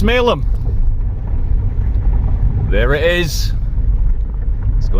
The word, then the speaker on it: Smailholm: look at smalem tower it's written smale home let's pronounce smalem there it is let's